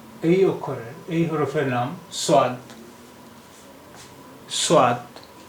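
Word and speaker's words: صاد: উর্দু ভাষার এই অক্ষরের এই হরফের নাম সাদ। সাদ সাদ এর উচ্চারণ হয় সা অক্ষরের মতো, সা, সাদ সা, সাদ সা।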